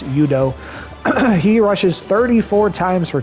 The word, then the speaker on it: Udo: I think I call him Udo half the time, but I think it's pronounced Udo.